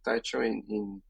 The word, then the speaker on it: Techo: So was about like the first draft was just because Techo means actually it's Techo that they pronounce it Techo in Spanish.